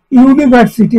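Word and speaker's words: university: এ ইউনিভার্সিটি, এখানে ভাওয়াল অক্ষর আছে ইউ, কিন্তু উচ্চারণটা ইউনিভার্সিটি, এটা মানে ইউর মতো উচ্চারণ নয়, তো সে কারণে এটা এ ইউনিভার্সিটি হয়ে গেছে।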